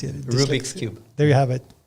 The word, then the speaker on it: Rubik's: which could manipulate the cubic the cubics cube rubrics rubik's i can never pronounce it rubik's cube there you have it and uh and